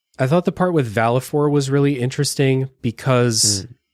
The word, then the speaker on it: Valefor: Valefor, is that how you say it? Valefor? I always said Valefor, but... I always took it as Vale as in like a gale of wind.